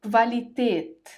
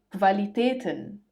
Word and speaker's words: Qualität: When the letter U comes after the letter Q, it is pronounced as kv, kv. For example, die Qualität, die Qualitäten, die Qualität, die Qualitäten.